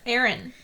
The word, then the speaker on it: Arryn: Aaron. Is it Aaron? Yes, that's how they say it in the show. John Aaron.